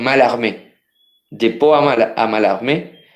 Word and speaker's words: Mallarmé: se escribe a la escriben mallarmé pero se pronuncian mal amén de po amar amal